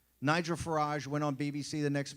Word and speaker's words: Farage: even pronounce Briggs ooh they kept saying Nigel Farage or something right couldn't even pronounce it all these people